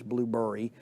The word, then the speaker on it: Blubrry: Blueberry, which is spelled Blubrry. There's no E in it. It's not Blueberry. It's Blueberry. Blubrry.